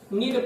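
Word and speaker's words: knead: का नीड, भैया देखा नीड पढ़ते हैं, के यानी EAD होता है, के साइलेंट होता है, नीड पढ़ा जाता है, और नीड माने होता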